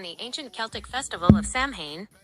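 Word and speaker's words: Samhain: Halloween originated from the ancient Celtic festival of Sam Hane, pronounced sain, over 2,000 years ago in what is now Ireland, the UK, and Northern France.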